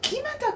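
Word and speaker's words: 木全: あ、木俣くんって読むの。これそうくん、貴前くんって読んでま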